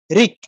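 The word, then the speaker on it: ঋক্: বলি ঋগ হ্যাঁ এই রিক বলে ক এর নিচে একটা হসন্ত দেই উচ্চারণটা কিরকম করি রিক যে ঋ ক কিন্তু পুরো উচ্চারিত হয়নি আমরা যদি বলতাম ঋ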